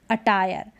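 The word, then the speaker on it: attire: होते हैं वोह अटायर अटायर अब इसको अटायर नहीं पढ़ेंगे यानी ई का तो उच्चारण बिल्कुल नहीं होगा आर को तो र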